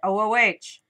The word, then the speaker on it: Ooh: This is how you pronounce it. O-O-H. Ooh. Ooh. Or English version, because that was the U.S. Ooh. Ew. Ooh. It sounds like ooh, and that's kind of